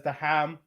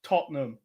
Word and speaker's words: Tottenham: when you say that don't pronounce it as the ham it's just Tottenham oh Tottenham that that's